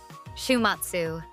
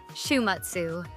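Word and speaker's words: 週末: Listen carefully. Shumatsu. Can you hear the syllables? Shumatsu.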